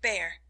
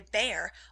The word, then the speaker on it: Bhaer: It isn't pronounced either Bear or Beer, as people will say it, but something between the two, as only Germans can give it.